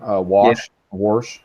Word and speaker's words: Washington: that it's Washington but they pronounce everything with an are washed worse Washington that's right I got a